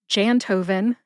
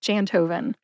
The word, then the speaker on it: Jantoven: Now, if you can't remember where to put the emphasis, just think of the composer Beethoven. Insert Jan into the first part of the name, Jantoven, instead of Beethoven.